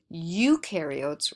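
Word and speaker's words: eukaryotes: no membrane bound organel UK carots rhymes with do because ukar do have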